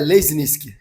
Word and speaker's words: Lesniczki: Então, o jeito mais tranquilo de de falar é lesnisk.